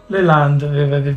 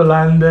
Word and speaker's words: Landes: Ma questo, com'è che si dice, com'è che si pronuncia Landes, questa regione? Le Landes, perché io già avevo fatto Landes.